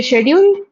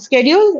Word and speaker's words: schedule: So, if you say schedule and schedule, it's just the difference between American and British English.